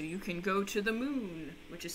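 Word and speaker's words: Mun: like similarities so you can go to the moon which is spelled m-u-n or you can go to minmus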